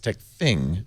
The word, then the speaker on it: TechThing: I want to call it Thang, but that wouldn't be how you spell it. It's TechThing. TechThing.